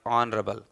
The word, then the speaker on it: honorable: Here also H is a silent letter. This is like honorable.